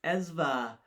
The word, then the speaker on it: Esva: It's Esva, ESVA, ESVA, and he's there on Twitch and also on Twitter.